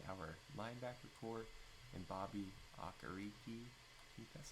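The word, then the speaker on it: Okereke: somebody to solidify our linebacker core and Bobby aari that's how you say his name and then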